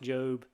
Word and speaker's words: Job: It is pronounced Job.